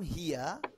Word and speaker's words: here: হিয়া, ওটা হেয়ার না, আমরা বলি কাম হেয়ার, কাম মানে আসো, হেয়ার মানে খরগোশ, আসো খরগোশ, মানে ভুল উচ্চারণের কারণে এটা হয়। কাম হিয়া, নট হেয়ার, কাম হিয়া।